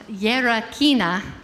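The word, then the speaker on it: Γερακίνα: Our next piece is actually pronounced Gerakina.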